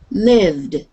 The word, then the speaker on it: lived: So we're going to look at the 3 different ways we pronounce them. So this word, I'm going to say it and you repeat. Lived, Live, lived.